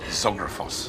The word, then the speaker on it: Zographos: Evangelos, your surname is unpronounceable for me at the moment. I can practice. Zographos.